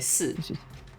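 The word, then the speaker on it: 四: 4, we say si. Yeah. There's ishi. If you're going for the Chinese pronunciation, and also the one that sounds like death.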